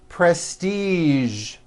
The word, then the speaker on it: prestige: color beige the word massage and the word Prestige okay okay now that you are great at